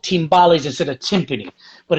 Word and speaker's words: timbales: so um how many how do i uh pronounce the name is that you said ballet or timbaland it's called timbales yeah i say it in this well you